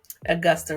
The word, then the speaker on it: Augusta: the austa 14 am I saying it right Augusta rule yes Augusta rule I don't think a